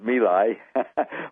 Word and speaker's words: My Lai: Actually, it's My Lai, but that's the way they pronounce it there, and everybody pronounces it My Lai.